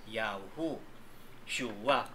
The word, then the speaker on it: Yahushua: Yahu, Shua. Hindi Shua, kundi Yahu, Shua, Yahushua. Amnam po.